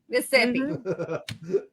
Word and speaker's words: Mississippi: You didn't say all the S's. It's Mississippi. Mississippi. Mississippi.